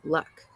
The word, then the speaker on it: Luck: passenger log luck yes in Cantonese our surname sounds more like Luke but the British like to pronounce it luck ba had decided to